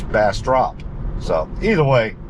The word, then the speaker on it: Bastrop: grown up calling it Bastrop and sounds like I've been mispronouncing it all these years it's bass drop so either way like